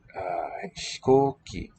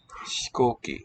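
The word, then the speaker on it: 飛行機: Hikoki, so it's like a whispery sound.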